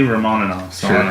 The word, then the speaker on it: Romanova: romaninov I don't know it's spelled Romanova but they say Ramon enough yeah that's weird but anyway uh Daniela Bianchi